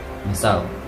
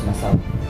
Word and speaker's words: Masao: According to the primary sources including the diary of Antonio Pigafetta, the Chronicle of Magellan's voyage, the place's name was supposedly 3 syllables, Masao.